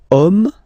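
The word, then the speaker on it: homme: we've got the word om man okay but then it start with Ash as in French a is not pronounced so the first sound that we hear is O Okay and then it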